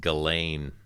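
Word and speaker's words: Ghislaine: i don't know uh i think it's pronounced gallane even though it's spelled like jizz lane gilley gallagher she's an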